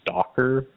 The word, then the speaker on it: Stalker: Um, there's a Kentucky House of Representatives member named Sarah Margaret Stalker and it's spelled like stalker as in stalking people not as in shelves.